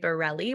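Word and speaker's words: Barrile: am Bear b-a-r-e by Borelli which is my last name b-a-r-r-i-l-e it doesn't sound like it's spelled so find me and then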